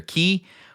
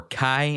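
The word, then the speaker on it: chi: X being the Greek letter key or Kai as it is pronounced.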